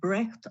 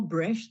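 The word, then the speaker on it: Brecht: use Epic Theater and breath or bre whichever way you want to pronounce it interchangeably but uh certainly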